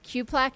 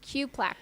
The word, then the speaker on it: Cuplac: Cuplac. Cupplac is how we pronounce Jonathan's last name. Q plaque. Much easier. I'm just going to think of a Q-tip. Q plaque.